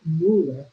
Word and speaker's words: Muller: And I found a reading from a man by the name of Robert Mueller, and it's spelled Muller, if I'm not pronouncing it right.